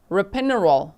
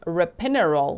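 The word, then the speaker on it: ropinirole: So the fact that he had benadryil valium rapinol I actually thought they were mispronouncing like rapanol which is like the date rap drug but actually it's rapinerol which is for restless leg syndrome and what was the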